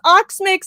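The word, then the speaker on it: Oxmyx: Because it's spelled Ockmix and everybody says Oxmix and no one can explain to me why.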